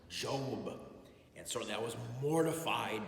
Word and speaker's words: Job: i said a reading from the book of job and he said it's pronounced job and so that was mortified by my first